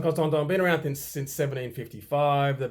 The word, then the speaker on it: Constantin: You don't say the N at the end of Vacheron, and you don't say the N at the end of the Constantin. Constantin, Vacheron, Constantin.